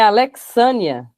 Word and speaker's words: Alexânia: gente vai seguindo então é Alexânia é Alexânia Alexânia a pronúncia fo X com o x Alexânia Não aqui Vai